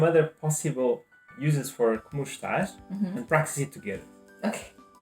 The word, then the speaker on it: está: The word está, if you want to pronounce it like a Portuguese person, you basically pronounce está without the E.